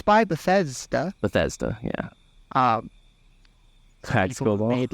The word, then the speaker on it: Bethesda: Starfield Yeah by Betha how you say their name I've been saying how do you say it Betha Bethesda yeah it's Bethesda Bethesda yeah no one hit